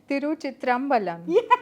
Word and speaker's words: Thiruchitrambalam: win so it's it's difficult for me to pronounce the name of a film but I'm going to say it tyu chitr Balan yes well done since I'm not South Indian